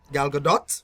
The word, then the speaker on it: Gal Gadot: Gal T is silent, Gadot.